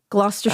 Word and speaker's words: Gloucestershire: Gloucestershire.